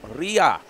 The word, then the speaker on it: Riar: Riar.